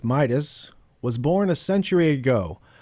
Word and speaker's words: Midas: Sidis, the name rhymes with Midas, was born a century ago on April 1st, 1898.